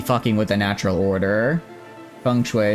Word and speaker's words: feng shui: Feng Shui is the Mandarin pronunciation, and good on America for once.